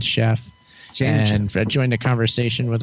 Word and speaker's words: Sheff: My last name is Sheff, but it's spelled with an S.